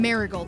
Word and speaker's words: Marigold: Marigold, like the flower, but spelled like Marin.